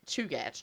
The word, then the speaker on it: Chugach: But I did look up the Chugach, and it surprised me that's how it was pronounced. But Chugach, that's what it said.